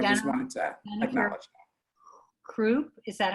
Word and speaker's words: Cropp: Kropp, is that how you say her name?